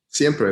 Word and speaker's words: Siempre: One of the tracks that I've really enjoyed is, I'm sure I'll mispronounce it, Siempre? Siempre, that's it.